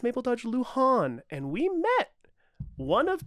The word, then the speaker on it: Luhan: everybody out there, and very specifically to the pronunciation police that are all out there, relax, okay? I've been saying Lewin for Mabel Dodge Lewin. My apologies, for Mabel Dodge Luhan.